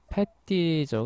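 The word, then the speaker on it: petty: 이 기간 동안에 숭배를 받은 신들은, 예, 페, 이게 패티죠. 그쵸? 프랑스어로 자꾸 발음을 하려고 하는데, 패티입니다. 패티.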